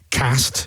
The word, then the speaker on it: Cast: And then, of course, you moved on to Cast. Yeah. Which is pronounced Cast.